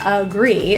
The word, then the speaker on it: agree: The A in agree is pronounced as a schwa.